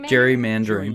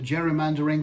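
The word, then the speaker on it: gerrymandering: Jackson Pao there you go how do you pronounce that I don't even know what that is Jerry Jerry mandering Jerry mandering the art of drawing districts to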